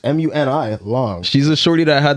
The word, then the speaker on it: Muni Long: Money Long. Is that how you say it? Money Long? It's Mooney or Money Long? I don't know. Wait, that's her name? It's MUNI Long.